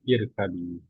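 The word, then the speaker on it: اركبي: Kalau yarkabu bacanya irkabi.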